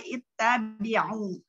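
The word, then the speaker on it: اتَّبِعُوا: Jadi kita hamzah wasolnya, kita apabila ada fathah atau kasroh, hamzah wasolnya berubah menjadi dengan harokat kasroh. Jadi dibacanya ittabi'u.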